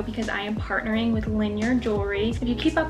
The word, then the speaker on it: Linjer: you haven't heard of linear jewelry it's spelled l-i-n-j-e-r but you just pronounce it linear in the english vocabulary